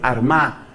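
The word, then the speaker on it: Armagh: sede de San Patricio fue armá que se escribe con gh al final San Patricio desde la sede de armá que queda actualmente en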